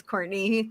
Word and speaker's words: Courtenay: Though my name is Courtney, but it is spelled like Cortina.